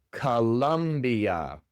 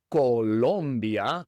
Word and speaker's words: Colombia: En inglés se pronuncia Colombia. Colambia. Tanto la primera como la segunda o se pronuncian con el sonido de la famosa shap. A a c la ca la calambia. Calambia. No es Colombia como en español, sino Calambia.